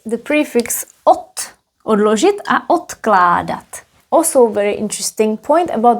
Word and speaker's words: odkládat: Odložit a odkládat. Also very interesting point about the pronunciation. Odložit, here is d, odložit. Odložit. Whereas the next one is odkládat. Odkládat. Again because of the K.